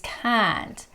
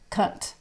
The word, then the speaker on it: can't: pronounce this word correctly basically you open your mouth quite a bit it can't can't it's not cunt okay because that means it's a very very bad word i won't even try